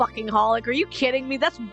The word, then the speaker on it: xxxHOLiC: You recently learned that apparently it's officially pronounced as simply Holic and your mind.